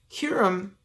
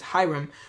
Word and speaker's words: Hiram: in bronze from tyre hyrum also you can pronounce it as Hiram was extremely skillful and